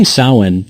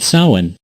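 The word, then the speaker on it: Samhain: the night of October 31st it was called Sawan yeah I know it's spelled differently than how it's pronounced when did you become such a stickler during sawhen the Celts would light bonfires and sacrifice crops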